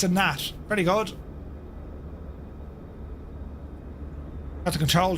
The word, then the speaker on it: Gnat: Was it a Nat or a Gnat? Um That's awesome looking, look. It's a Nat. Okay, sorry, it's good to see you, buddy. So, it's a Nat.